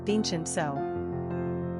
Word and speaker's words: Vincenzo: Pronunciation, Vincenzo.